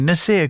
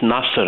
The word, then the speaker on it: Nasir: Nazir, good morning. Hi, good morning. It's Nasser, actually. Oh, it's Nasser. Sorry, Nasser. It's spelt Nazir, though, is it? Nasir? Yeah, Nasser. That's it, Nasser.